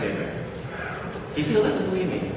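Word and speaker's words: Hebert: Abear. Abear. Yeah. See, he's Cajun like me. So I know how to say his name. So it's Herbert. No, it's Abear.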